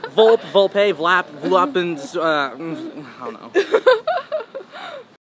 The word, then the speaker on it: Volpe: I'm here with VOLPE.